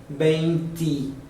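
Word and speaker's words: veinti: Então, apesar do numeral 20 ser pronunciado bente, com E no final, aqui, do 21 ao 29, todos terão benti, porque tem um I.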